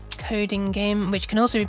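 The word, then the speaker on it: CodinGame: on the website called Coding Game, which can also be pronounced COD in Game, which can also be pronounced Coding Aim. I think some other ones. Oh, Coding a Me as well.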